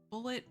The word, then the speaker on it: Bulette: They are doing a hex crawl and they have just encountered a bullet. Blet, let's see what they how they pronounce it on the site.